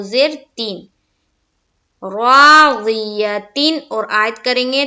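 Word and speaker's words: راضية: ज़ी, या जबर या, ता दो जेर तीन, राज़ियतिन, और आयत करेंगे तो राज़िया, फहुआ फी ईशतिर राज़िया।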